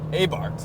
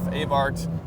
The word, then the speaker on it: Abarth: one two four Spyder a bar a bar a Bart however the heck you want to pronounce it depending on where you are in the world regardless this is a